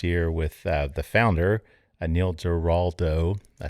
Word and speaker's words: Giraldo: We had Ari Sussman, their master blender, master distiller, on the show last year with the founder, Neil Giraldo.